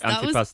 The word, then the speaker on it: Antipasti: Um the Antipasti, is that is that pronounced right? Antipastic. Perfect Italian.